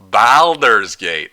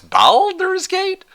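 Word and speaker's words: Baldur's Gate: Ba Balders's Gate. Ah, it's Baler's Gate. Balders's Gate. That sounds wrong, but okay, sure.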